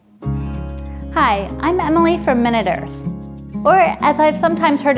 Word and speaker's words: MinuteEarth: Hi, I'm Emily from MinuteEarth, or as I've sometimes heard it pronounced, MinuteEarth.